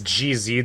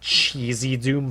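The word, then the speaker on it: GZDoom: I think it's GZ Doom, except for whatever reason, everybody on YouTube and everywhere pronounces it Cheesy Doom for some reason. The way it sounds to me, it's GZ, or GZ, the letters.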